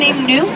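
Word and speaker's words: gnu: And they also have the African n. It's spelled G N U because it mimics the sound that they make.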